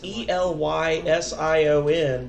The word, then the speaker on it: Elysion: It's pronounced like it's Elysion, but they pronounce it ill, like IL or IHL. Illu, EU, Jun, ZHUN, Illusion.